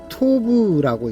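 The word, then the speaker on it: טוב: 선이라는 히브리어는 토브라고 읽습니다. 토브 이렇게 읽습니다. 오른쪽에서 왼쪽으로 이렇게 읽습니다. 토브.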